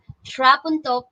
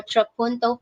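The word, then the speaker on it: trapunto: then finally we have trap until painting or troponto painting depending on english of america but both pronunciations are correct so what is this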